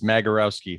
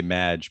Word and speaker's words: Magierowski: It's Magierowski, hard G. Oh, a lot that's of people easy. say Madge, but it's Magierowski.